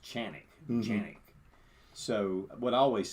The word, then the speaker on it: Canik: too is you pronounce in Turkey you know Canik is really pronounced chanic so what I always